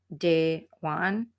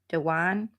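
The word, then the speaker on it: Dejuane: say her name right it's d e j u a and e I believe and you pronounce it De Juan Dewan Anderson so I'm just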